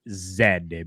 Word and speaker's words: zed: we are canadian and that's how we pronounce it we pronounce it zed because it is finalizing